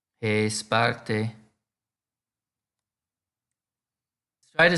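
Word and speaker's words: ἡ Σπάρτη: means the city the sparta in Greek is pronounced hey Sparta hey Sparta let's try to say now Sparta is a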